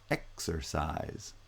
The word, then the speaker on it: exercise: in the third example in exercise both the first and the third syllables are stressed and only the middle syllable is unstressed so it's the middle syllable that has vowel reduction and you get exercise exercise and notice there are